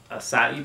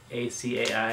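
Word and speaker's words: açaí: But the one I decided to try for you today is the acai berry. It's spelled A-C-A-I. A lot of people think it's pronounced acai, but it's acai.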